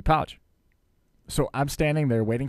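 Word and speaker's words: Pauch: pronounce his last name it was Billy Potch instead of Billy pouch so I'm standing there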